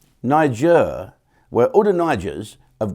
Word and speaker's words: Niger: is n-i-g-g-e-r what so how do you pronounce that then Niger Niger so all the nigers